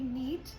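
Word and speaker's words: knead: दे देख लेते हैं नीड यूज करते हैं के एन ई ए डी नीट इसमें के साइलेंट है नीट द डो ओके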